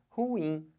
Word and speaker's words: ruim: bota força aqui mas a sílaba tônica não é horror é o ruim então o certo de falar não é ruim o certo de falar é ruim Olha a força que